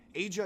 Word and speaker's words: Aja: Haze is good, Aja is just better. A in hey, ja as in ya, ja as in ya.